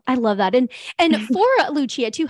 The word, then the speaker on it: Lucia: how do I spell Lucia again? So it's like St. Lucia, the island, is how you spell Lucia. I just say it the Italian pronunciation.